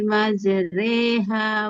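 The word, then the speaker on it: مجراها: Bismillahi majreha wa mursyaha. Jadi, Ustazah itu harus tulisannya majriha tapi dibacanya majreha gitu ya.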